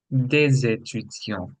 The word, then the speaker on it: des étudiants: Un étudiant, des étudiants. Des étudiants. Okay. See what I did in this case. So des étudiants, I'm doing a liaison, which is why I'm pronouncing the S.